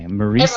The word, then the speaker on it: Marisa: Okay. Marisa. Everyone does it. That's okay. Rhymes with Lisa.